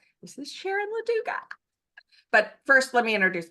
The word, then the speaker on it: Loduca: And one of our speakers is Sharon Loduca. Am I pronouncing that right, Sharon? You are. Okay. You are.